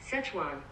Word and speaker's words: Szechuan: I don't know how to pronounce this chicken, but let me look it up right now. Szechuan.